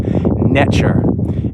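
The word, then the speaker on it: netjer: It's NTR, and the T has a ch sound, so it would be pronounced Netcher.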